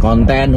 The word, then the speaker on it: konten: Kemudian konten huruf K, O, N, T, E dan N, jadi bukan konten seperti dalam bahasa Inggris.